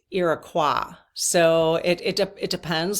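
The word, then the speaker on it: Iroquois: that okay but I will call them um iqua because that is the fren French pronunciation iqua iqua okay um or the H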